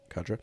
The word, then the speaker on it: Cadra: Anyway, um, so can you tell me about the first year of building your company, Cadra? Am I pronouncing that right? Cadra.